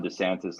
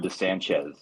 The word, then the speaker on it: DeSantis: picked this up, but the way that he was pronouncing Ron DeSantis' last name, it sounded like he was like adding some kind of like Latino tinge to it. You were saying Ron DeSanchez.